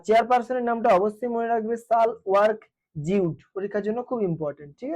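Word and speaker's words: Sahle-Work Zewde: এর চেয়ারপার্সন হচ্ছে সাল ওয়ার্ক জউড। সাল এইযে সাল বানানটা কিরকম বাংলায় লিখে দিই আমি হল এই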